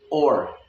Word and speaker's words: or: और। गलती कहाँ होती है? और। ओ की आवाज़ नहीं आएगी, ओ की आवाज़ आएगी, और। अब और बिल्कुल और भी नहीं आनी है, और।